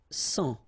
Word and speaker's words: sang: Un sang. Okay, remember this G here doesn't exist, so un sang.